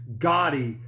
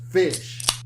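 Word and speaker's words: GHOTI: pronounced gotti it's pronounced fish how is that pronounced fish because gh is f as in enough o sounds like i as in women and ti sounds like sh as in nation so gotti is really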